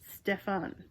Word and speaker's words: Stephen: normal is Stephen Hobart Stephen pronounces his name like he's French Steffen but his family is